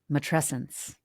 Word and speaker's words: matrescence: Mattress sense. Matrescence. Close enough.